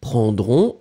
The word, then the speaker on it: prendrons: Remember that phonetically, the nous form prendront, O-N-S, and the il, elle form for the plural prendront, O-N-T, are exactly the same. You write them differently, but you pronounce them exactly the same way.